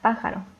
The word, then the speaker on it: pájaro: Después tenemos la palabra química, que es una palabra esdrújula y debe ser acentuada en la antepenúltima sílaba.